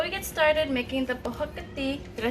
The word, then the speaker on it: Prohok Ktiss: So before we get started making the Prohok Ktiss, did I say it right, hon?